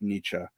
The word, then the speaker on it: Nietzsche: you correct my pronunciation I realize that you pronounce it Nietzsche um I'm just not thinking in German at